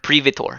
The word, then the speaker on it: Privator: Privator, yes. Can you spell that for me? P-R. In chat? Okay. It's literally privateer spelled or pronounced differently.